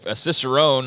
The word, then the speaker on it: cicerone: that's yeah that's cool and cicerone I guess it's how it's pronounced it seems it's how it's pronounced it's a beer somaler apparently so we all learned a new word today and it's not somal it's that cicerone is a beer somal is what I just gathered